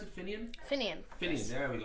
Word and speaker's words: Finian: How do you pronounce it? Finian? Finian.